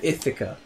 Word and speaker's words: Ithaca: I thic a yeah so you pronounce it if occurs yeah yeah yeah she called it it occur those I'm lucky on about she's like it's how it's how it's spelled I almost know it